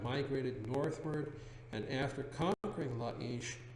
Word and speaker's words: Laish: Or properly pronounced Laish.